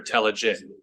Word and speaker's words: Telligan: Telligan, tell me if I'm mispronouncing your name. It's a soft G, Your Honor, Telligan.